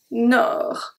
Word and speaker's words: Nord: Du Nord. Du Nord. The D at Nord is silent.